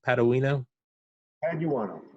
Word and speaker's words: Paduano: Paduano. Just like it's spelled. Yep. Okay. It's never that easy, and of course now it is. Paduano.